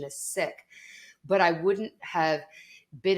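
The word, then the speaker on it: Sikh: ago I would have known that the correct pronunciation is sick but I wouldn't have been in a place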